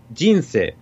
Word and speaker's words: 人生: But if you take like jinsei, it goes down. It goes down, yeah. And so, and this is always the case, right? Jinsei is always goes down.